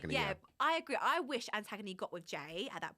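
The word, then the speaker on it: Antigoni: No, it's Antagony. Yeah, I agree. I wish Antagony got with Jay at that point.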